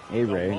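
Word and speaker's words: Ehire: A-Ray, not A-here.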